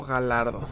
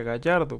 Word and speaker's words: Gallardo: ¿Cómo se dice? ¿Gallardo o Galardo? Según yo, siempre he sabido que se dice Gallardo, porque pues como es una palabra que se dice en español y eso, pues tiene que decir Gallardo.